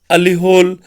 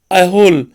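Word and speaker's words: Aihole: अलीहोल वॉज the capital, अहोल, sorry इसके pronunciation को आप देख लेंगे।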